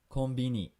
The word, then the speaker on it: konbini: you didn't forget already konbini konbini by the way that should be spelled with a k it's my own uh